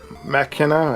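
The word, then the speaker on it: Machina: got damon x mckenna mckenna i believe that's how that's pronounced this one is opened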